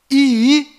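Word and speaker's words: ישראל: as pronúncias corretas de cada letra Então a pronúncia correta desta palavra é Israel aqui está localizado Israel no mapa e aqui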